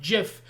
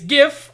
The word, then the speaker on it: GIF: me dead in the eye and go it's pronounced jif and i would say i'll keep that in mind jod and then walk off no it's not it's gif i know that's what that's what this is